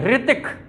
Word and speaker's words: ऋतिक: के हो गया है कि ऋतिक नहीं रितिक रितिक वाइब्रेशन आना चाहिए तो इसका उच्चारण री और इसका उच्चारण री है इसका प्रयोग कहां होता